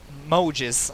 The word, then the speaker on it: Maugis: And next up we have Flame Noble Knight Mayugis. Okay, Mojis. Okay, that's how it's supposed to be pronounced.